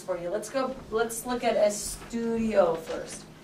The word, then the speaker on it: estudio: Let's look at estudio first. How many syllables?